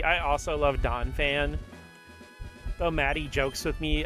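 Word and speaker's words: Donphan: I also love Donfan, though. Maddie jokes with me every once in a while cuz I always pronounce Donfan's name as Donfon.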